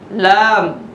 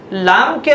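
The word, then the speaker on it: لام: ফে, কফ, কাফ, গ্যাফ, লাম। লামকে আমরা আরবিতে অনেক সময় আমাদের অভ্যাসের কারণে লাম বলে ফেলি, আসলে এর উচ্চারণটা লম।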